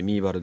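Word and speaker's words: ミーバル: 新しい原と書いてミーバルです。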